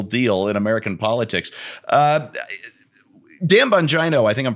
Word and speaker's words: Bongino: Dan Bongino, I think I'm pronouncing his name correctly, the radio host. Bongino, thank you.